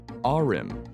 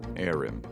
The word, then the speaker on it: Ahrim: This magical Barrows brother's name is Ahrim, not Airim.